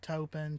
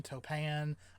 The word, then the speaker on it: Toppan: she was fostered out as an indentured servant to a widow named ann tobin now and the last name is pronounced topen topan i like tobin better i think topan kind